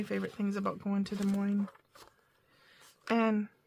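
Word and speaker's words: Des Moines: things about going to De Moine and De Moine is spelled D e s m o i n e s and it is De Mo unlike does Plains in Illinois I don't know why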